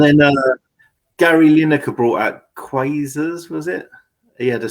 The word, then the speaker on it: Quasar: And then Gary Lineker brought out Quasars, was it? He had a special edition pair of Quasars, I think. Is that how you say it? Quaver?